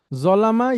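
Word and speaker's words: ظالم: উচ্চারণটা যেহেতু আমরা আরবি শিখতে আসছি উচ্চারণটা একটু ঠিক করে নিতে হবে। জতে টান হবে জলিম।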